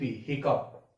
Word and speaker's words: hiccup: HICCUP, हिकअप। HICCUP, हिकअप। क्या पढ़ेंगे इसको? हिकअप।